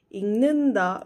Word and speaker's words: 읽는다: So be careful of the of differences like that.